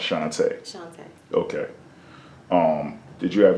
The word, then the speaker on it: Shantá: okay so let me hear you say it shantae how is it spelled s-h-a-n-t-a okay and do